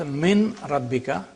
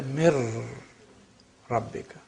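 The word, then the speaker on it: مِن رَبِّكَ: So you don't pronounce min rabbika, you say mir rabbika.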